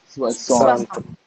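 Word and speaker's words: soixante: Okay, so how will you pronounce 60? Swasant.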